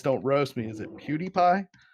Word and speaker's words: PewDiePie: so you guys don't roast me is it cutie pie it's that how you say it okay I